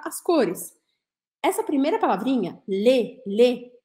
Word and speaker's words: les: cores essa primeira palavrinha lê lê lê é as tanto faz feminino ou masculino lê e a gente fala assim lê tá escrito l e s mas eu vou falar lê lê seja feliz e